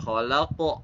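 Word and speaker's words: وَخَلَقْنَاكُمْ: Nah, itu wa khalaqo. Nah, harus qalqalah ya.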